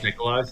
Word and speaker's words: Nicolaj: or something like that it's a Jay the the I is a j n nicolaj but I suspect it's pronounced Nikolai no no no no I was told earlier that it's a j Nikolai yeah interesting and it's